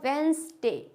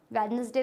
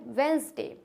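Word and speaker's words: Wednesday: letters आते हैं तो डी इज साइलेंट बिफोर जी जी से पहले जब भी डी आएगा तो क्या हो जाएगा ये साइलेंट जैसे कि beige has वेज एज वेनसडे क्या हो जाएगा वेनसडे वेडनेसडे तो नहीं होता है वेनसडे हैंडसम सैंडविच हैंड क्रेफ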